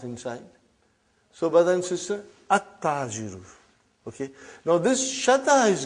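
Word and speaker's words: التاجر: At-tajiru. You did not pronounce al. You did not pronounce lam. Okay, you did not pronounce. You skipped it.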